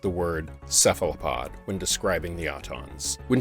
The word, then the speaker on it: cephalopod: and he said now I've only ever heard it pronounced cephalopod so it seems that